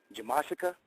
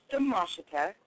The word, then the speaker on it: Damashita: Jamashica. Damashita. Close enough. Did I say it right? Dub with a D. It's okay. It's pronounced the Mashita or for short.